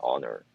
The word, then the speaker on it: Annor: And the fact that his name is spelled Annor, but like you say it like Honor.